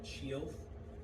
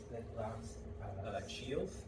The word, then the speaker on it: Chielth: And the first one, what's the last Chielth, it's say the last sound? Ilth.